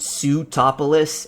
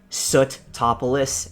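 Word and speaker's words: Sootopolis: fly to satopoulos city i think i mispronounced it when i was uh reading the story uh uh the long road like i was calling it pseudopolis instead of soot topolous as it's supposed to be like a volcano or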